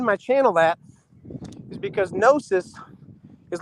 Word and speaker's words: Gnosis: Yeah, it's just search electric nosis and nosis is with a silent G on the front of it. So the word electric and then G N O S I S.